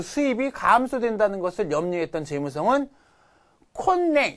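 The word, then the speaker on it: 今年: 근데 세금의 그 수입이 감소된다는 것을 염려했던 재무성은 콘냉, 이거 콘냉이라고 읽어요.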